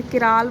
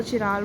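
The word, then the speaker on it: chiral: किराल बोल दो, चिराल बोल दो प्रोनाउंस पे डिपेंड करता है।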